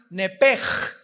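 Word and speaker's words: נפש: que al salírsele el nepesh, apúntalo ahí, el alma en el hebreo es nepesh, se pronuncia nepej, la CH en hebreo se pronuncia como J, nepesh, murió.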